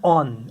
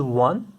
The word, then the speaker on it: one: So if we look closely towards 1 rupee, it begins with vowel, but it produces the sound of W. Okay. So it is not on, it is 1.